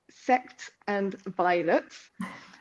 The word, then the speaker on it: Sects and Violets: And then coming next year is when we're going to start really on the Bad Moon Rising, and I will pronounce it correctly, Sect and Violets.